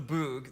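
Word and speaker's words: Böögg: So the burning of the boog, that is how it's pronounced.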